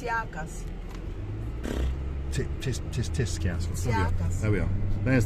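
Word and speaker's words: Tsiakkas: Tiscas? Wow, whatever it's called. I can't see where you There see. we are. She shouldn't be driving, should she? It's Tsiakas.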